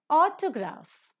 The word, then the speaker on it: autograph: Autograph, the first syllable is accented.